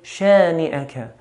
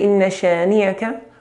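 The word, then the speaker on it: شانئك: Now hamza here should be pronounced like a hamza. Like an a sound. Shani'aka. Because very common to hear inna shani'aka. To say inna shani'aka, we're swapping the hamza with a ya, which is a serious mistake.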